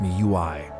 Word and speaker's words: MIUI: They called their version MIUI, pronounced me you I.